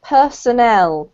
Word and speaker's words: personnel: So this is actually pronounced personnel.